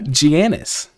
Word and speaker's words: Giannis: on the eastern conference who tortured that no giannis that's how you say it uh obviously another